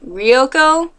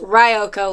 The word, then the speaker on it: Ryoko: my main character's name ryoko um but actually it's pronounced ryoko like rye bread um and no I